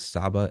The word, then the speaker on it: saba: Our letters SB um the ancient Egyptians did not have vowels in their writing. So it's kind of implied in the uh Coptic language which descended from it helps us to uh figure out the pronunciation. So the word is saba s a b-a uh in English.